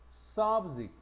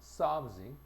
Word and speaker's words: subject: 2번은 subject. 그지? 여기서도 마찬가지야. 강세가 앞에 있어. subject. 명사나 형용사는 앞에. 동사는 뒤에.